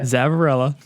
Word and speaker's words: Zavarella: Zavarella.